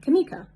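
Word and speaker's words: Kameka: much different for instance my name phonetically is spell k-a-m-e-k-a or k-a-m-e-e-k-a with a emphasis on the e sokka me ka and then put it together kamika how simple and easy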